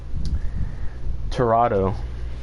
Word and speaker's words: Tirado: a billion times okay um tirado that's how you say it Jurado though it's not